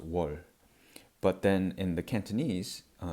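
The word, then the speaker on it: 월: And in modern Korean, it's pronounced wol.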